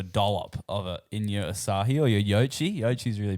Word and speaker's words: Asahi: And then Olivia was like Asahi, and I was like, maybe I'm pronouncing it like the beer company, Yeah, Asahi. Asahi, Yeah. not Asai.